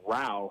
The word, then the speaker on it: Rowe: His last name is actually pronounced Rao.